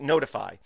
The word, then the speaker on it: ntfy: So again, it's ntfy.sh, so it's spelled, pronounced notify.